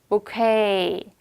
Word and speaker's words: bouquet: 강세를 뒤로 빼는 거야. 그래서 bouquet. bouquet 발음이 K. 영어에서 태생이 아니기 때문에 약간 영어스럽지 않아요. 발음이 얘가.